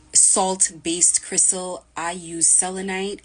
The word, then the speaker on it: selenite: need a very salt based Crystal I use selenite it's spelled s e l n it selenite um it's a salt crystal here it is